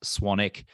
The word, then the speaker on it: Swanwick: My last name is actually spelled Swanwick, but it's pronounced Swanwick.